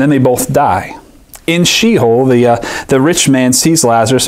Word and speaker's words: Sheol: In the Psalms, there's this reference to this place called Sheol, which is spelled S-H-E-O-L.